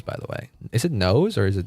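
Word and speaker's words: Nous: Is it Nose or is it News? Nose. I think it should be. My mind tells me it should be Nose. Nose the erudition. News. It's actually supposed to be pronounced news.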